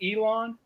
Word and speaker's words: Elon: Is it Elon? Is that how you pronounce that?